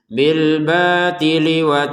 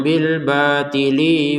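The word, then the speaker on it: بِٱلْبَٰطِلِ: Ini langsung saja gabungin bil batili seperti itu. Jangan bil batili wa. Nah, bil batili bnya kita panjangin dua harakat karena ada alif kecil.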